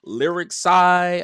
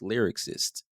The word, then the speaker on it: lyricist: Everybody says lyricist, lyric side. I'm like, no, it's lyricist.